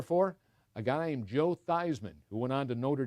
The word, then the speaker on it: Theismann: it was joe eastman but he was joe theismann ever since yeah yep but i just wondered